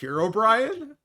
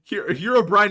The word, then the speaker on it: Herobrine: Did you just pronounce it Herobrian? That's how it's pronounced. It's Herobrian. Uh Herobrian. Yeah. Not Herobrian. His name isn't Brian.